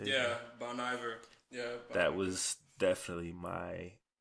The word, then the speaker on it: Bon Iver: Yeah, Bon Iver.